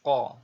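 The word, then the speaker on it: ق: Nah, huruf Q ini diucapkan dengan cara menyentuhkan pangkal lidah dengan langit-langit bagian belakang. Diucapkan dengan suara yang tebal dan dalam posisi sukun,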